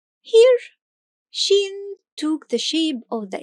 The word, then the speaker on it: شين: And remember to pronounce the sound of Shīn as you draw it. , .